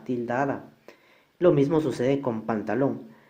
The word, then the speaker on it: pantalón: Lo mismo sucede con pantalón, lleva la mayor fuerza en la última sílaba, y como termina en N, entonces sí va tildada.